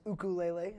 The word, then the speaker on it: ukulele: different yeah it's a tenor ukulele it's uh pronounced ukulele uh is the proper pronunciation okay uh and